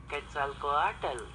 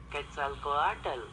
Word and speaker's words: Quetzalcoatl: See if we can get a pronunciation out of here. Quetzalcoatl. Quetzalcoatl? Quetzalcoatl. That ain't nothing like what me and King Drop was saying. Quetzalcoatl.